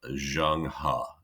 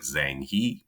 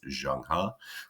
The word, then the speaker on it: Zheng He: at the voyages of Zheng He, which is how you pronounce it. It looks like Zhang He, but it's pronounced Zheng He.